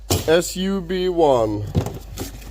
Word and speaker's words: SUB1: sub most way uh the model number is sub one that's literally how it's pronounced su1 where is this there